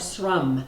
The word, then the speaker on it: Ankarsrum: I usually put flour first, but everything I've seen with the Ankarsrum, did I say it right? It's close. It's better than it was. Ankarsrum. Yeah. I keep wanting to put an H in it.